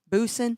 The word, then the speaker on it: Busson: Logan Busson, I think is how you say it. Busen. Yeah, Busen. 13 tackles.